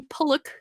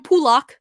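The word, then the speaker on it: Pulock: One, they couldn't pronounce Ryan Pullock's name right. It's Ryan Pullock. He kept saying, and there goes Ryan Pullock.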